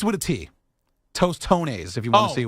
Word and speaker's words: tostones: going to make some toones what are those doones are are smash plantains in a circular shape